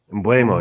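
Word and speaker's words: Mbeumo: Mbuemo, yeah.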